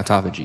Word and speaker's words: autophagy: like the the um how how do you pronounce this autophagy yeah autophagy yeah autophagy I always messed up the word